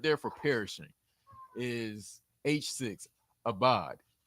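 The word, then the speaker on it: אבד: Sounds a lot like abad is that's spelled with the iron, right? The word for servant, but this is a different word. It's spelled with an olive, and it's abad.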